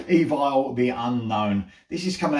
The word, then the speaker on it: Evile: spoke to him and he told me let's say you pronounce it so there you go evil the unknown this is